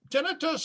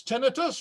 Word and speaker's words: tinnitus: Now, incidentally, tinnitus has two pronunciations. It's tinnitus, like I say, and in Canada and the UK, we both mostly say tinnitus. And here in America, we mostly say tinnitus. Well, I learned tinnitus, so that's my story and I'm sticking with it, but either one is right.